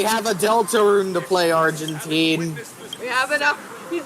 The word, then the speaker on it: Argenti: I keep forgetting that finishing up this entire You see, me personally, I pronounce it Argenti with the emphasis on the gen.